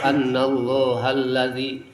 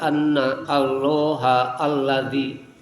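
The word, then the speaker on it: أن الله الذي: diserat ku urang teh eta ayat annallahalladzi kan ada dua huruf yang tidak dibaca karena membacanya tidak anna allah alladzi dibacanya tidak seperti itu.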